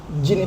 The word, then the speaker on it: DJIN: ya D itu nggak ada disebutin lagi. Nggak perlu dibaca lagi, Nggak langsung nggak perlu.